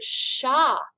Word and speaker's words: chat: some of you know this is the word sha it means cat so they've taken our english